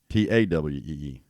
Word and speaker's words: Tawee: I don't think they were pronouncing it Towee, but it's Towee. Tawee. Oh, it's TAW? Yeah, Tawee.